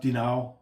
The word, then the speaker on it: Dinan: It's spelled Dinan, D-I-N-A-N, but it's pronounced Dinao.